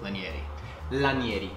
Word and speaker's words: Lanieri: without further ado let's jump in first correct pronunciation is lynnie a la Yeti yes we opened like in Italian and in